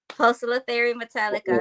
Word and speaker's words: Poecilotheria metallica: Poecilotheria metallica. Oh, Good job on the pronunciation.